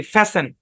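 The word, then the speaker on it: fasten: খেয়াল করেন যেমন দেখেন এফ এ এস টি ই এন টি টা সাইলেন্ট উচ্চারণ কি ফ্যাসেন বা ফ্যাসেন দুই ভাবে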